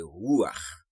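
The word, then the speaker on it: רוח: Nous te ouais mot ça en hébreu qui c'est ruach qui signifie souffle, vent et esprit. Mot original là, c'est resh, vav, chet, qui c'est ça que fait les prononcer ruach.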